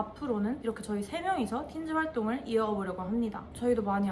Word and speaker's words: Tintz: This is next Tins라는 뜻이고요. T는 묵음입니다. 틴즈 결성 계기가 궁금합니다.